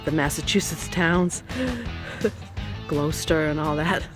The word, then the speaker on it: Gloucester: towns I always laughed at Jed how we pronounce the Massachusetts towns glester and all that it's actually Gloucester but this